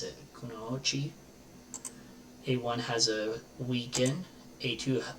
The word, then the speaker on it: Kunoichi: here to Kunoichi, I think is how you pronounce it, Kunoichi.